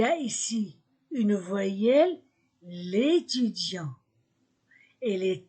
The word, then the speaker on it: étudiant: définis écoutez la prononciation l'étudiant les étudiant l'étudiant masculin singulier le étudiant je supprime e et je mets l'apostrophe l'étudiant je ne prononce pas le T l'étudiant masculin singulier l'étudiantes